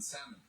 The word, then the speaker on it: salmon: He says sometimes I slip up and pronounce the L in salmon.